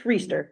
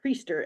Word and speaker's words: Reister: It's Reister. Rhymes with Easter. Yeah, you've been doing a great It job. just sounded like you said priester and I was confused about if he was a priest.